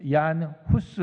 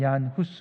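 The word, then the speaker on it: Jan Hus: 위클리프 다음에 등장하는 인물이 이안 후 수 라고 영어로 운좋은 후 수에서 근데 이제 그 나라 말로 발음할 때는 얀 후스 입니다 1374 년에서 태어나서 1400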